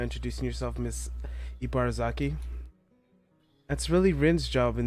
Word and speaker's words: Ibarazaki: I'm Ibarazaki, Emi's mother.